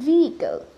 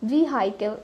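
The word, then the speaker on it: vehicle: সো এই ওয়ার্ডটা হলো ভিহিকল, ইটস ভিহিকল, নট ভিহিকল, ভিহাইকেল এরকম কিছু না, ইটস ভিহিকল।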